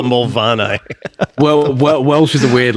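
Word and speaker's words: Moel Famau: live on the side of a mountain called Molfamau. So that's spelled, for anyone who wants to look it up, Moelfamau. Yeah, I'm pretty sure that's how it's spelled. Because that's how you spell Mulvanni.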